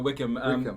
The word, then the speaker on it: Wycombe: wycombe by combi or whatever the combat no wickham yeah they won the league one playoffs championship